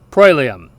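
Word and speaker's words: proelium: word for Europe eropa the combination OE is pronounced oi we see this in the Latin word for battle prum again spelled p r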